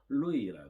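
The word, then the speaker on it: 鹿邑: 중국 현지 발음으로는 루이라 그럽니다.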